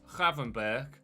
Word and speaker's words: Gravenberch: Like Marco van Ginkel, it's Gravenberch. And I would have said, obviously in English, Birch. But the CH apparently in Dutch at the end of Gravenberch is actually a similar